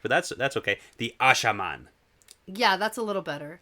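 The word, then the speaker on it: Asha'man: The Ajaman. No. Ashaman. Ashaman. Yeah.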